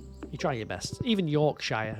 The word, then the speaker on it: Yorkshire: If if you see a shia in England, it's it's normally sh. If it's a shia, it's a sh normally. Lanasher, Yorkshire, Tuxen.